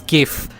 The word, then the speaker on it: GIF: I know precisely know these are the two pronunciation and it's GIF it has always been GIF